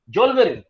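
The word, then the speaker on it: Zollverein: जोल्वेरिन, rather, that is the right pronunciation.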